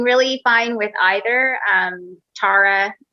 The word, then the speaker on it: Tara: fine with either um tara is uh the way that it's pronounced in ireland uh my dad was